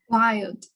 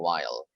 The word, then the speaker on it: wild: you say this word wild wild yeah what i heard is just like you're saying a while while wild wild all